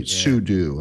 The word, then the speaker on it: sudo: i've typed su because i just immediately install pseudo and all the machines i have or excuse me sudo i know i've been pronouncing that wrong for all these years and